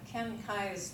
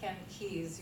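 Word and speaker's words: Ken Keyes: H Ken kais Jr you may may have think that it's Ken Keys you may have heard of Ken keys but his name is spelled k ye s and it's I with the K on the front so Ken wrote the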